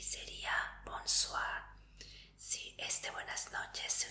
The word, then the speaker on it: bonsoir: Y sería bonsoir.